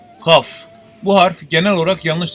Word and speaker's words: kaf: Ra, Z, J, Sin, Şın, Sat, Dat, T, Z, Ayn, Gayn, F, Kaf. Bu harf genel olarak yanlış telaffuz edilmektedir. G harfi ile K harfi arasında bir sestir. Ancak K harfine yakındır.